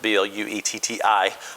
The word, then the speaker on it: Bluetti: the Bluetti, I'm not real sure how to pronounce it, B-L-U-E-T-T-I.